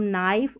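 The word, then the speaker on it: knife: चलिए फिर यहाँ पर देखें के साइलेंट कब है, जैसे के एन साथ में रहते हैं ना ऐसे स्पेलिंग के स्टार्टिंग में शुरू में, तो यहाँ पर के साइलेंट रहता है, तो इसको हम नाइफ और नी पढ़ते हैं, नाइफ और नी।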